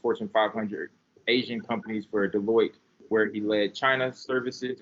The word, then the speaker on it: Deloitte: That's Deloitte. Okay, there you go. Deloitte partner for 10 years, where he worked at the largest Fortune 500 Asian companies for Deloitte, where he led China services and Korean services